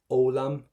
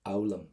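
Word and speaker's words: foghlaim: In Irish, never pronounce an FH. Always silent. GH. In the middle of a word, don't pronounce it. So what we're left is olam or aulam, whichever way you want to pronounce it. Irish is your language. So let's go for olam.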